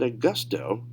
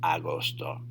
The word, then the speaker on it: agosto: Notice, it's not said Augusto. That would be your English training coming into effect and causing a bias when you pronounce. So really focus on these words and how they sound, and you got to make sure it's agosto.